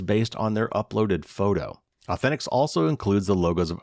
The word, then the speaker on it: AU10TIX: The Israel-based company called Authentics, and that's, I had to look it up because it's spelled AU10TIX, so Authentics.